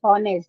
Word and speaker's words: honest: So make sure there are certain letters which are silent and where we get vowel sound.